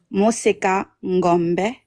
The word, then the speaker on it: Mosa: So, how you say the name is Mosa. That's how you say it.